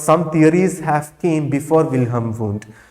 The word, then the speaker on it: Wilhelm: as wilhelm wundt okay your h is silent or you can pronounce like anything william or wilhelm who is father of